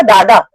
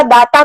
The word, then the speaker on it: दाता: या मतलब वो परतीपुरी, पुट्टापर्ती का ऐसा मेन है, and that is because your pronunciation is, उसने साउथ इंडियन किसी का सुना होगा, दाता का दादा बोला होगा, तो वो अपने हैप्पीली ही सिंगिंग परतीपुरी के तुम हो दादा, हाँ, वृंदावन के तुम हो दादा।